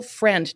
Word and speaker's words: Frend: I've got a very special guest in Rachel friend now is it actually pronounced friend yes perfect there we go how